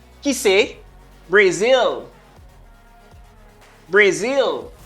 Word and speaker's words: Brazil: Brazil. Brazil. Brazil. Moi te accentué sous zil. Zil. Voilà, on pas dire Brazil. Si vous dites Brazil, non, c'est pas Brazil.